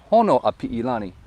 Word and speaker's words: Honoapiilani: Honoapiilani. Honoapiilani. So it's just like everything sounds like it looks, except for the I's are with E's.